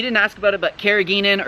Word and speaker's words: carrageenan: So we all know, you didn't ask about it, but carrageenan, or carrageenan as some people pronounce it, is extracted from